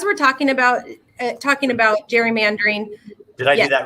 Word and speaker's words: gerrymandering: oregon legislature dot gov slash redistricting yep and you can still sign up and you know as we're talking about talking about gerrymandering did i do that right yep that's correct